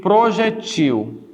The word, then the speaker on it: projétil: Outro caso, você tem o projétil, e tem o... você tem o projétil e tem o projetil. Projétil e projetil. As duas existem. Projétil é paroxítona e projetil é oxítona.